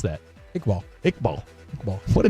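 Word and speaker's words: Iqbal: How would you pronounce that? Ickball.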